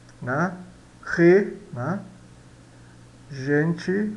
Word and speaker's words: gente: Gente, a gente pronuncia gente, né? Sempre como se fosse pronunciado CH de Sprache, palavra alemã, ou ich, né?